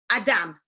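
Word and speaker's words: אדם: Adam. Adam. Adam is actually human. And so his name, Adam, is built of two syllables. Ah, from that aha, and dam.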